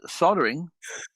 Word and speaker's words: soldering: Soldering. Soldering. Yeah. I don't want to know about your. Leave it there. Let's not go there. Soldering. Yeah. The L is silent in America.